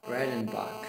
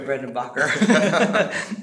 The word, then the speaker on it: Breidenbach: This is the director of East European Mission Network, Mr. Breidenbach. Yes, sir. I said it right. You said I've been it calling you Breidenbacher.